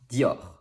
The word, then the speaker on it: Dior: go number one dior this one is simple you only need to know that e before another vowel sounds like yeah there is also the french which might require practice but the other letters are similar to english so it's dior dior has only one syllable but most french